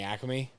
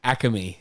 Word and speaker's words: Acme: Guy like you, Acme. Acme. 3 syllables.